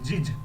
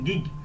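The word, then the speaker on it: gig: জি এটা জিজ, জিজ না হয়ে আমাদের একটু উচ্চারণ হবে গিগ।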